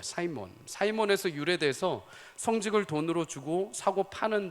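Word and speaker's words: Simon: 사려하는 모습이 보인 거죠 그래서 시몬이라는이 영어 발음이 사이몬이라고 합니다 사이몬 사이에서 돼서 으로 사고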